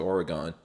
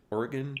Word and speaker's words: Oregon: And then you all had to move out to Oregon. How do you say it? Oregon? Oregon?